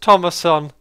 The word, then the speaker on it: Thomason: for Mason geez uh says my last name is pronounced Thomason Thomason I'm so sorry for